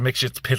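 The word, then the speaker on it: Mxyzptlk: Mixshit's that's how you pronounce it.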